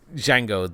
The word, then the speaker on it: Django: He has the conversation with Django at the bar, and he's sort of like, oh, it's Django, the D is silent, and he's like, I know.